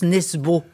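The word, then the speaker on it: Nesbø: Voilà nesbe enfin en France ça se prononce nesbo.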